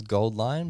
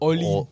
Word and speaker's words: AU Line: is Gold Line, but it's spelled AU line because AU is the chemical signal Right. symbol for gold. Yeah. That's stupid. I think it's Gold Line. There's a lot of people that have called it different things. Called it Oline. Ore Line and Gold Line, but yeah, whatever.